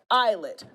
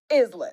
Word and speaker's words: islet: up the pronunciation of these words is L is spelled eyelet not islet I got it now okay I got it